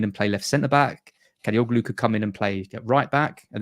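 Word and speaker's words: Kadıoğlu: Kadioglu, that's right. Kadagulu. That's probably the worst mispronunciation. Kadagulu, wasn't that a band in the 80s? I'm sure it was. Kadioglu.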